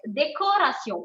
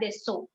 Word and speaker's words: décoration: Normally, when you pronounce the words of C, yes, décoration. So when you don't have accent mark below C, it is déco, co. It's not deso.